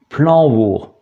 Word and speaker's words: Plañvour: Alors, O ou OU, ça revient pratiquement au même parce qu'il s'agit d'un O long. Et le O long a tendance à être prononcé OU en breton, donc planvour, c'est pour ça qu'on a cette prononciation.